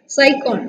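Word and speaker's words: Sycon: Okay, cycon, S-Y-C-O-N, con. This is how you have to pronounce.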